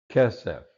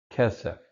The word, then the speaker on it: kesef: Kesef, again, here we have the segolet, accent on the first syllable. Kesef, word pair form, kesef.